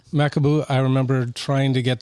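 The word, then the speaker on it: Macabeu: Makaboo. Makaboo.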